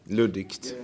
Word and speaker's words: luddigt: was probably very important at this juncture because it could have been Ludic. Is that the word? Luddigt. Yeah. Good. Pronounce it good.